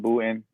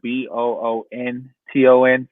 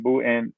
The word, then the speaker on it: Boonton: listen i call it bhutan everybody i know it's called it's spelled b-o-o-n-t-o-n so some people say boonton i'm just saying there are some people out here who pronounce the end and i'm like what